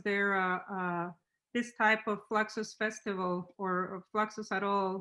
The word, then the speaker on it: Fluxus: for his pronunciation but hispanic people we say fluxus we don't say fluxes i like it i like it i like the way that that pronunciation fluxus because let's not forget that fluxus comes from latin so he was